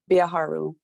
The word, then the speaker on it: Biaharu: i know amber acts how to pronounce my last name it's a biaharu uh telehealth for our